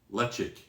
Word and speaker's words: Ledaig: of the box it says that it is um lechik which is another way that i've heard it pronounced and in fact in